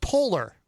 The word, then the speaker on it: Poehler: I believe it's pronounced Polar.